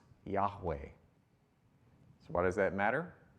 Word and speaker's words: Yahweh: action verb it's always i am and it's pronounced yahweh so why does that matter because here is